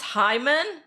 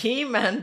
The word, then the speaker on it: He-Man: It's pronounced Hyman? Oh, is it? I don't know. Yeah, but towards the end of his career, Wolverine wasn't regenerating that much anymore, was he? No, it's He-Man.